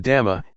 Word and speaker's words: dhamma: The dhamma, in Thai pronounced in the same way as the word tum, which means to do, refers to nature that exists by itself.